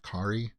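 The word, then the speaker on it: Carey: pronounce her last name it's spelled like carrie but it's pronounced kari uh she's directed an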